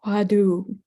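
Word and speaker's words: hwadu: Uh I you mentioned the and I'm familiar with the Korean pronunciation of the in Korean the pronunciation is the wadu and uh wadu means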